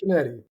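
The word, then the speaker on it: Canete: the Mandarin with his name was it Eric Canet? Canet? How do you say it? Eric Canetti.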